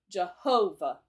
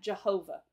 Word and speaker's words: Jehovah: In Jehovah, the accented part of the pronunciation is the ho. Jehovah. Hear that? Jehovah.